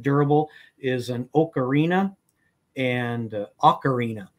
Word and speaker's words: ocarina: is an ocarina and ocarina i guess is the correct pronunciation ocarina and that's referred to as